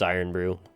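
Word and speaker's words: Irn-Bru: ground yeah it's not it's not ear Brew it's iron Brew no it's is ear bro I said it wrong saying it your way every time and then some actual Scottish people were like what are you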